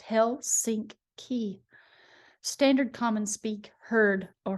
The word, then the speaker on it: Helsinki: Helsinki, pronounced Hell-sink-key.